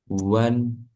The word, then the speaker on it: one: Walaupun depannya O tapi bacanya one pakai W.